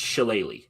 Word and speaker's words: shillelagh: Not the shillelagh. I always heard what is that? It's shillelagh. Okay, shillelagh.